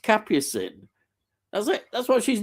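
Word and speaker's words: Capucine: one word uh uh capucind it's pronounced capin that's it that's what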